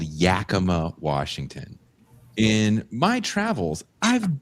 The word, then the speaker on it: Yakima: No, Yakima is actually spelled phonetically. Y-A-K.